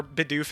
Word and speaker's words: Bidoof: But Bidoof is or Bidoof, as people were preferring to pronounce it yesterday.